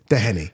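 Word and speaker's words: Doheny: I've heard so many different pronunciations. And it's Dehenny.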